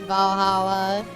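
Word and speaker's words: VA-11 Hall-A: my all-time favorite one, Valhalla, spelled like VA-11.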